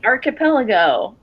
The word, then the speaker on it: archipelago: You'd say it's C-H with a K. Archipelago. Do you? No, you don't. Stop lying to me. How do you say it? It's not architecture.